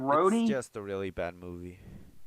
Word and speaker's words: Rhodey: And the I whole mean, thing with Rowdy, yeah. I mean, It's Rhodey.